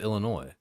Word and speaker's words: Illinois: You do not pronounce the S. It is a French name. It's just Illinois.